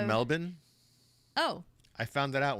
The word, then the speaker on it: Melbourne: hello Melbourne we have do you know it's pronounced Melbourne oh I found that